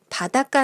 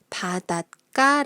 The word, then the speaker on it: 바닷가: 가 를 붙여 볼게요 이 경우는 바닷가 라고 있습니다 또는 바닷가 라고 읽어도 맞아요 싸이 쇼 스의 조건